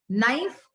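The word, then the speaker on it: knife: नाइफ, के silent.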